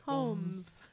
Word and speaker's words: Holmes: Is it Katie Holmes or Holmes? Like Holmes with a silent L, much like all of Brian Redband's L's.